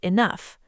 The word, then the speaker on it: enough: It's spelled E-N-O-U-G-H, but pronounced enough. Yes, the letters GH at the very end of the word make a soft F sound, like in the word fish.